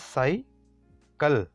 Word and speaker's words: cycle: In word cycle, C is followed by Y. So it will C के बाद Y means category 1, the soft one, soft C. So it will sound as S. The next one is CL. L is other consonant. So category B, hard C, it will sound as K. This is cycle.